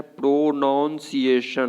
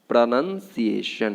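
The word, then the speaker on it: pronunciation: तो इसका लोग बोलते क्या है? प्रोनाउंसिएशन, पूरा तोड़ करके हम लोग बोलते हैं बेसिकली, जो कि अप्रोच गलत है। आपको क्या बोलना है? प्रोनंसिएशन, प्रोनंसिएशन। अगला है कैबिन।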